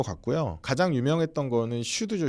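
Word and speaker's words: SCHD: 가장 유명했던 거는 슈드죠. 슈드. 요거 슈드라고 읽더라고요.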